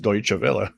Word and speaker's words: Deutsche: long time to actually realize that this is pronounced Deutsche.